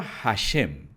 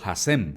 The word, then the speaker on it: Hashem: La palabra Hashem o Hasem, como dicen algunos, es un término hebreo que significa literalmente el nombre.